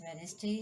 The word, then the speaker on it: Wednesday: And letter D is not pronounced in the following common words: Wednesday, handsome, handkerchief, and sandwich.